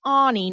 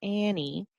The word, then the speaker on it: Anie: As a teenager at the prestigious Bradley School, Anie is pronounced Anie, not Annie.